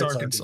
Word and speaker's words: Arkansas: It's illegal to mispronounce the state's name. Arkansas. Massachusetts? It's Arkansas.